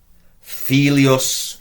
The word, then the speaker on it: filius: We have servus, filius. I should have pointed out it's a long I there, guys, as well.